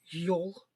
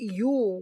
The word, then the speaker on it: Yule: straight they called it Yule which is pronounced the same as the word for Christmas in Norwegian today the Viking believed Odin